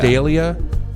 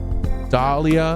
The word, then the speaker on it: D'Elia: You refuse to say his name correctly. D'Elia? It's D'Elia. Dahlia.